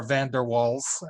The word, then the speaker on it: van der Waals: the name of Johannes van der waals or van der waals if you prefer to pronounce it that way who studied gases and